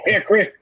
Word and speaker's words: Hickory: welcome john reed from hickory that's right you guys you got something like this for whatever reason we don't pronounce the o in hickory it's just haircut and then a little